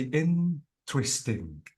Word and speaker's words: interesting: have to say interesting you have to say interesting so notice that the stress is on in okay and uh uh